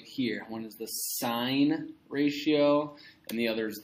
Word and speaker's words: sine: But just in case, let's take a look at sine quickly here. The sine of theta, it gets abbreviated S-I-N. Please pronounce this sine. This is not sin. It will be a sin to call this sin.